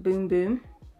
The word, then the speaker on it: Bum Bum: I think it's actually pronounced Boom Boom. I call it Bum Bum and it's just stuck, so yeah.